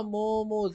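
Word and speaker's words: momos: ये बोलते हैं ना मोमोज, इट्स a wrong word, पहले तो इसकी प्रोनाउंसिएशन ही ममस होती है, MUHMUS, लेकिन मोमोस इज रॉन्ग, हमें मोमो बोलना चाहिए, भैया एक प्लेट मोमो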